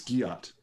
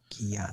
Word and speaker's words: Guillotte: It's Guillotte. Guillotte. Yes, Wow. very French, very mispronounced. Guillotte.